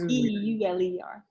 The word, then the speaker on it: e: i said that right it's e like as in the letter not like you know so it's named